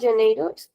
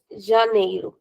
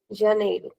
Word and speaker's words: Janeiro: No, not Janeiro. Janeu. Janeu.